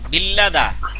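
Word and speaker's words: 빌리다: এই যে রিউলের পরে রিউল আসছে, দেখেন এই যে রিউল, আবারও রিউল, এই জন্য লয়লা উচ্চারণ হয়েছে এখানে। হ্যাঁ, আর এই যে তারপরে রিউলের পরে ই, এই জন্য উচ্চারণ হবে বিল্লি। উচ্চারণ কি? উচ্চারণ হবে বিল্লি দা।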